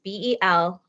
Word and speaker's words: Belonga: It's Belonga. It is not phonetically correct.